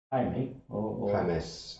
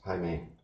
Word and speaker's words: Jaime: Jaime. Jaime. Well, you've got Jaima, which is like Catalan one. You know, Jaume. Jaume. I like Jaume better, though. Yeah. Because here they pronounce the J as a Jota, is a sound.